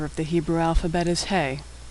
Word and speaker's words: He: The fifth letter of the Hebrew alphabet is He. He makes the sound of H, as in hello. Like H in English, He is silent when it appears at the end of a word.